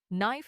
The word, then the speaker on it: knife: For example, knife has silent k, honest has silent h, and climb has silent b.